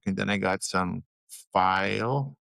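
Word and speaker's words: Pfeil: Oh yeah, I got a tiny little palm set for like detail work, and then I got some file. That's how you say it, eh? Yeah. Yeah, File.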